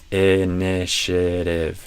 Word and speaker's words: initiative: Initiative. And then the final, this is silent.